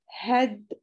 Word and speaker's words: head: Sometimes EA makes different sounds. How do you say these words? Head, weather. As you can see, the word head and weather are short E.